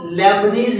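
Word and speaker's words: Leibniz: Gottfried William लेबनिज, LEIBNITZ भी लिख देते हैं और T साइलेंट भी है, और इसको लेबनिज ही पढ़ा जाता है।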